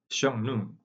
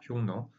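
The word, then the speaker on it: 匈奴: as 샹누 이렇게 흉노입니다. 이제 샹누 하면은 이제 지금 현재의 중국어 발음으로 읽은 거고 우리말로 하면 흉노입니다. 흉노.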